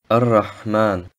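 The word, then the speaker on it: الرحمن: Ar-Rahman. Das Alif und Lam im Wort Ar-Rahman werden nicht ausgesprochen, außer es steht am Satzanfang.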